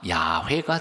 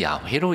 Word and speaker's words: 야훼: 근데 구약 신학자들의 연구에 의하면 이건 아닌 것 같다. 음가가 야훼가 정확한 것 같다. 그래서 최근에는 야훼로 읽습니다.